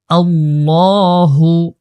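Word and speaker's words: ٱللَّهُ: আল্লাহু হামজা লাম জবর আল লাম খা জবর লা এখানে আল্লাহ শব্দটা মোটা করে উচ্চারণ করতে হবে আল্লাহু আল্লাহু পড়তে হবে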